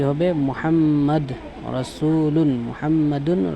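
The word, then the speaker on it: مُحَمَّدٌ: মুহাম্মদ, উচ্চারণ হবে মুহাম্মাদুন, মুহাম্মাদুন তানবিন সহকারে।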